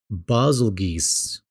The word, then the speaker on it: Beetlejuice: Monster Hunter Stories 2 the character naviu pronounces Beetlejuice as bosle geese oh yeah yeah geese